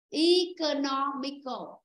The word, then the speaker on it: economical: Phải rơi vào âm thứ 3. Chữ nó. Economical.